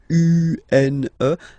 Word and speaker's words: une: Then the feminine article is here, and it's easier because if you have this U, N, E, then you pronounce it une, une.